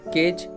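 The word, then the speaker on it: cage: যেটি ই দেওয়া আছে, এই ইংরেজি ওয়ার্ডের শেষে যদি ই আসে তার উচ্চারণটা সাইলেন্ট থাকে, তাহলে সি এ জি ই কেজ, যার বাংলাটা হলো খাঁচা।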